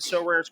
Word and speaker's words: Sorare: Both are featured in So Rare's current brand campaign and will engage with the So Rare community throughout the season at MLB events.